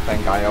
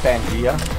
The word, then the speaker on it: Pangaea: Well, as you know, the boat's name is Pangaea or Pangaea. Depends on where you come from and how you want to pronounce it.